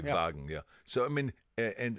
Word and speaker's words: Volkswagen: and the V because we in Germany we don't have a w like wine so we say Vine yeah just like a V the V even though we spell it the W but I mean it's a it's a it's a Volkswagen exactly Volkswagen exactly vagen yeah so I mean